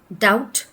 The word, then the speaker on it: doubt: doubt. In this word as well, the B is supposed to be silent.